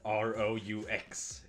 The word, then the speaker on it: roux: The French culinary term for this, by the way, is roux, spelled R-O-U-X. It should really be pronounced something like roux, but the French are kinda weird.